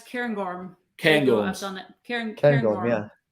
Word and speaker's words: Cairngorm: Romy wants someone to pronounce Cairngorm. Cairngorm.